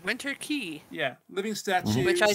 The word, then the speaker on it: Winter Quay: I called it Winter Quay the entire time until they finally said it was Winter Key, and I was like, oh.